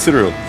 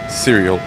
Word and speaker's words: Cyril: I think it's Cyril. Not cereal.